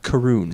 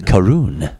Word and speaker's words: Caorunn: on a label yes it is pronounced karoon karoon karoon and I grabbed it